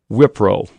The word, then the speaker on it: Wipro: You talk in the book about a great company called Wipro. Did I pronounce that right?